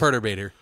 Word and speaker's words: Perturbator: me and also I'm gonna be how it's pronounced its perturbator would you stop doing the British thing is